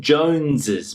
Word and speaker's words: Jones's: Now, the pronunciation, Jones's Mr. Jones's job. So, the pronunciation for all of these is the same as if it were a plural.